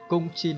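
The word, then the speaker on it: 公斤: Các bạn nhớ nhé, phải đọc là từ cung này. Cung chin nó mới là cân kg, còn nguyên là chin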